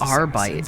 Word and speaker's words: Arbites: Adeptus Arbites. I saw some folks pronounce it Arbites.